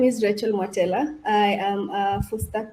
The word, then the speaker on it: Rachael Mwatela: So Tato, you have not butchered my name. Don't worry. My name is Rachael Mwatela.